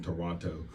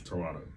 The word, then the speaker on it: Toronto: Like I be saying Toronto. It's Toronto.